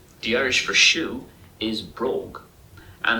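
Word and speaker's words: bròg: when it's like this, the G is usually pronounced with a K sound, so it'd be brogue.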